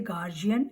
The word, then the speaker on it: guardian: Okay, in American accent we say guardian.